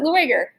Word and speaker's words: Lueger: vienna named carl lueger if you know german you say that's pronounced luger missensary um but he pronounced it lueger because it means liar a politician named flyer